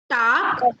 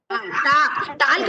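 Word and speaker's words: talk: दूसरा है baby, टॉक, सीप, मून, स्टार। टाल्क नहीं बोलते इसको, टाक बोलते हैं, साइलेंट है।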